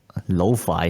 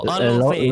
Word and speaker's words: Luffy: Lo-fi? No. Luffy. Luffy. Yeah. Yeah, You mean the You mean the main character Luffy? Yeah, the guy with the straw hat. Yes. Yeah. Yeah, Luffy started deck, and I